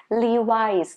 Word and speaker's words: Levi's: Then next one that I have for you is Levi's. Not Levi's. No. Not Louis. No. Levi's.